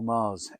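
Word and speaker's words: Magrs: name slash my name Paul Mars M A RS with a silent G I must remind people it's a silent G if you're wondering how to pronounce my name uh do go and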